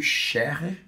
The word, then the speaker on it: Scherrer: Estamos também com a doutora Sandra Albano Scherrer. Acertei? Certo. A pronúncia aqui é alemã?